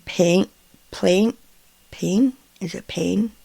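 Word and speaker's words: Payne: PL pain is it pain pain I think it's how it's pronounced p a y NE E from One Direction um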